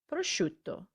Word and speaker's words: prosciutto: and it's not prosciutto as i said i is silent so you need to say sha sharpa like sharp in english and prosciutto now let's repeat just